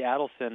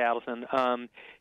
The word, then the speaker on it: Adelson: so rich yeah so I think it's actually Adelson although people seem to pronounce it both ways okay his people say Allison you know he is